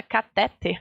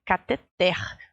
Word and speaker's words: cateter: importante vocês entenderem também algumas palavras que parece que a sílaba tônica é uma mas na verdade é a outra então é o caso aí pessoal de saúde que fala cateter tá errado é cateter certo é que até então